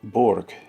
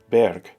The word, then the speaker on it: burg: Notice I'm trying to enunciate burg in the German pronunciation. This is different than the word berg, which indicates a mountain or at least a significant hill.